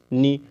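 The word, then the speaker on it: knee: ए के पहले के आता है तो वो साइलेंट होता है याद रखिएगा कैसे तो के एन डबल ई नी नी मींस होता है घुटना और के के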